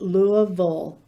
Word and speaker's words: Louisville: you go to louisville remember that kentuckians pronounce it louisville with that in mind